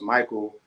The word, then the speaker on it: Mikhael: learned out that Mikel is original name you pronounced Michael from the Ethiopian or um Arabic or even